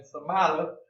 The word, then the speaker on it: stomata: But also another thing that happens is that these guard cells that make up the stomata, you got to say it like an Italian, stomata, and I'm half Italian, so I can get away with that.